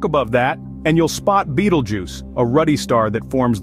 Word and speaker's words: Betelgeuse: red star named Beetlejuice bju pronounced as Beetlejuice is a fascinating Celestial